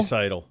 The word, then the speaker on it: Draisaitl: Draisaitl.